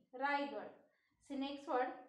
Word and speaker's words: Raigad: Rigard. R A I G A D. Rigard.